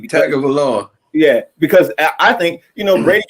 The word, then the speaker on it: Tagovailoa: Patrick Mahomes and Tua Tagovailoa, whatever how you pronounce his name. Tagovailoa.